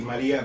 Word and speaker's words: Marja: It's like she will be Maria, but it will be spelled like Marja.